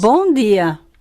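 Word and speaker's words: bom dia: si le prestamos atención bu día esta persona a pesar que es brasileña no nos la está pronunciando miren con el sonido gia vean no la está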